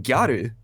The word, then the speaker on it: gyaru: In essence, they are just saying girl, but there is a difference between gyaru and garu, like girl. Like there's like a slight pronunciation difference.